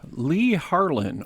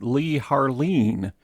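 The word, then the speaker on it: Leigh Harline: Father Yoler, I have Lee Haron or as I learned from studying this, apparently it's pronounced Lee Harleen as my uh legend.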